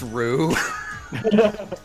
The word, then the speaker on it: Ryu: My friend Ryu said we were going on an adventure, but when we got Chula down voice. here... It's pronounced Rue.